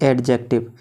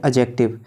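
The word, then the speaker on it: adjective: आता है हमारा अट्रैक्टिव जिसे बहुत से लोग पढ़ते हैं एडजेक्टिव लेकिन दोस्तों इसकी सही प्रोनोउनसेशन होती है अजय एक्टिव जब कभी भी एक और जे के बीच में डिवाइड तो दी हमेशा साइलेंट रहती है तो दोस्तों नंबर चार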